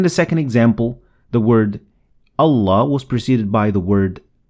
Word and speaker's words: الله: So, Allah, the alif is always lightly pronounced or empty-mouthed, as in ah.